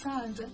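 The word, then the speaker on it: ص: The next letter we have is Sad. The Sad is basically the strong version of the Sin we saw in the beginning. This sound is pronounced with the throat constricted. Listen to Sad and Sin with the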